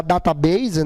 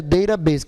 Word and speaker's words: database: Tá, a gente fala portuguesar database, né? Mas a pronúncia correta seria database, que o T no americano tem um som de R.